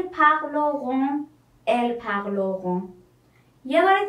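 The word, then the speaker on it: pleurent: ان ت اضافه میکنم دقت کنید او انت ا انت نیست تلفظش ایل پغلوغ پغلق پغلق پغلق یه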